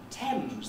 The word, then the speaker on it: Thames: sometimes it's spelt with the letter a as in many or as in thames the big river that runs through this city that's got an a